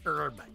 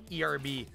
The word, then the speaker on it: herb: use the h it's herb erb they spell it with the h they don't they don't pronounce the h and then we add